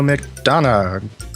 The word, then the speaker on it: McDonagh: i am wes wilson i am spencer williams and with us today is mcdonough i didn't ask you to have pronounced your name before the show how's it